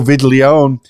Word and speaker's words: Viglione: As we were preparing for this, I checked my email, and Joe Viglione, I don't know, I pronounce it like it's Italian.